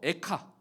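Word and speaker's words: איכה: 이 발음도 에카, 에카예요.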